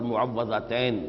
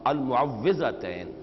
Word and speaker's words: المعوذتین: ہے اس میں مفعول۔ اصل میں تلفظ میں کچھ مشکل ہوتی ہے، عام طور پر معوذتین یہ غلط العام میں اس کا نام مشہور ہو گیا ہے، لیکن اصل میں المعوذتین واو کے زیر کے ساتھ۔ اور اس میں بھی